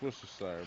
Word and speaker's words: Worcestershire: watching a lot of worst desire yeah it's Worcestershire but someone calls it like War Chester Street